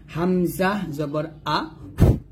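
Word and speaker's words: ء: তো হামজা যখন আপনি উচ্চারণ করবেন, আমি আগে বলছি হামজাটা নর্মাল ভাবে উচ্চারণ করতে হয়। যেমন হামজা জবর আ, হামজা জের ই, হামজা পেশ উ, এটা নর্মাল হবে, নর্মাল আমরা ভাবে। কোথা থেকে উচ্চারণ করবো, হলকের শুরু থেকে।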